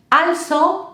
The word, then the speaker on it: also: Also, no. Also. Esa A se pronuncia como una O. Also.